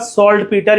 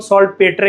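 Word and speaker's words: saltpeter: होता है शब्द का सॉल्टपीटर, या जिसको हम सॉल्ट पेटर कह लो, वैसे इसकी करेक्ट प्रोनाउंसिएशन सॉल्टपीटर होती है।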